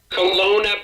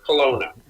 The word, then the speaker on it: Kelowna: Kelowna, British Columbia. Kelowna, as in Jerry Kelowna, as Dr. Tom Costa, my teacher, used to say. So, Kelowna.